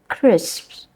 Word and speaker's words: crisps: but they are and the simplification of final consonant clusters and this is difficult yeah words like crisps I know it's difficult c r i s p s Chris I